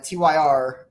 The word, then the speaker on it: Tyr: Um the uh USAW and uh Tyr or Tier depending on how you like to pronounce things.